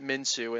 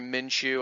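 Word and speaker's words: Minshew: zero interceptions again just fantastic they even put minsu in there at the end or sorry minchu I always say his name wrong they put minchu in there because the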